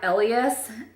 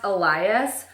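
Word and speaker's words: Elías: you look at this name it looks like Elias just because it starts off just like Elliot but it's actually pronounced Elias and so it's woman I really love that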